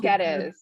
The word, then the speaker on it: Coll-Guedes: And Susan, how do you say your last name so I pronounce Coll-Guedes.